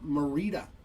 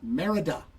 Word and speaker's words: Merida: So nice low-numbered auto for Merida. Why do I always say her name that? It's Merida.